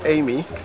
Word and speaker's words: Ayimey: that's that's that's the the foreign version which is Amy okay and then there's a local interpretation of it which is a you may okay